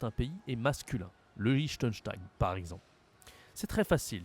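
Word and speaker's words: Liechtenstein: Belgique bien sûr le lichttenstein lichttenstein ok c'est une prononciation pas française c'est un pays allemand le lichttenstein le Vatican le Vatican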